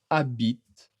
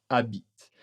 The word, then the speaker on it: habite: Le A, attention, le H n'est pas prononcé mais A est une voyelle.